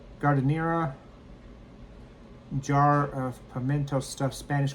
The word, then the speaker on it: giardiniera: g i a r d i n i e r a. Alexa, how do you pronounce g i a r d i n i e r a?